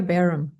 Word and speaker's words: Bareham: It's Barum.